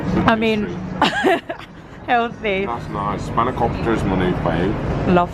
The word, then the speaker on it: spanakopita: Spanakopita is my new fave.